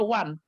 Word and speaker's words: one: karena dari sananya contoh Kenapa one dibacanya one Pak dalam bahasa Inggris ndak tahu saya karena orang ini sudah menyebutnya Wan kalau kita belum pernah bahasa belajar bahasa Inggris pasti baca one-one buka Nawang bukan uang ya begitukah Bapak Pendeta